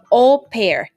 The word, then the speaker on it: au pair: never heard of that we just want to spell it out for you au pair a u space p a i r that